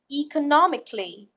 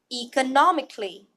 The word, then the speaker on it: economically: the test therefore let's try to first read the phonetic note and then practice e as an as with E go normally and remember the mclee part will go fast and will go together right economically economically let's